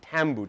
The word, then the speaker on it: tambu: It's actually pronounced tambu, T-A-M-B-U.